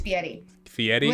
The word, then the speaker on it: Fieri: Fieri I don't really know I hear people pronounce it Guy Fieri it's Fieri Fieri that was almost like a tea like you're